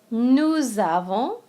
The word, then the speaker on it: nous avons: So the S in nous creates a Z sound at the beginning of the A, right? Listen. Nous avons, okay?